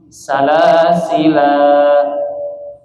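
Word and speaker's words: سلاسلا: Yang pertama, cara bacanya ditetapkan alifnya. Artinya lamnya dibaca panjang, mad asli. Salasila. Nah, itu wajah pertama. Ya, 2 harokat, mad asli.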